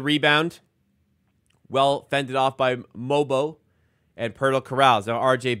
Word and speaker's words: Mogbo: you pronounce Jonathan mobo don't pronounce the G mobo not mogbo mobo however you pronounce it